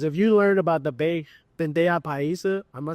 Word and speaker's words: bandeja paisa: Have a spirit of learning, because if you learn about the bandeja paisa, am I saying it right?